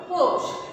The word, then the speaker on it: পৌষ: প ওকার মূর্ধন্য স, পৌষ। এই যে দেখো মূর্ধন্য স, এটাও কিন্তু স্বয়ের মতো উচ্চারণ হয়।